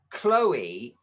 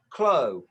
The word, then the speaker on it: Chloe: It looks like it should be Chloe, doesn't it really? Because you don't usually get an E on the end of a name.